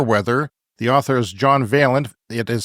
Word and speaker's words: Vaillant: is called fire weather the author is John veent it is spelled v a i l l a n